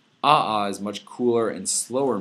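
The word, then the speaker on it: ʻaʻā: second one is called aha right in the Hawaiian language you pronounce all the letters so aa usually pronounce ah aha.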